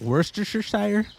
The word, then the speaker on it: Worcestershire: It's actually pronounced Worcestershire.